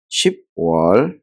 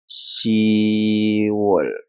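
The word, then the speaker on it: 시월: sama dengan bulan 10 bulan 10 itu bukan ship wall tetapi se wall se wall Nah gini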